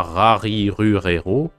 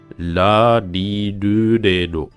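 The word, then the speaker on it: らりるれろ: Par contre, à la lecture, faut pas prononcer le R comme à la française. C'est pas rari rurero, c'est bien la li lu le lo.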